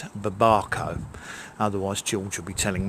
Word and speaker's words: babaco: Perhaps I'll just call it mountain papaya, but I've always called it babaco, but apparently it's babaco.